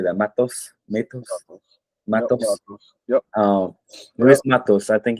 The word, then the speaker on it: Matos: Matos.